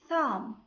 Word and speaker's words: thumb: بمعنى ملي كتجي B at the end of the word في نهاية الكلمة بالحق قبل منها كاين letter M, B is silent. An example: bomb, climb, thumb, lamb.